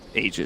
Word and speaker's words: Aegis: the pronunciation about eondisk aegis of the immortal yes you don't really care because we have a patch where it was said that it's pronounced ages that's true ice frog